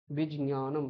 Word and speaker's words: বিজ্ঞানম: বিজ্ঞান বলি না বাংলায়, ওই বিজ্ঞানম ওখানে দুটো অক্ষরের সংযোগ আছে, একটা হচ্ছে বর্গীয় জ আর একটা হচ্ছে ঞকার, এই দুটো সংযোগে জ্ঞটা হয়, বিজ্ঞানম এরকম উচ্চারণ করতে হয়।